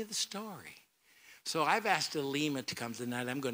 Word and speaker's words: Aleema: It's Aleema. If you forget how to pronounce Aleema, just say the grateful one and I'll answer.